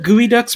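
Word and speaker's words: geoduck: you've never looked up gooey ducks before go on google and search for it it's spelled GE Oh d.u.c.k I'll spell it out and Chet look them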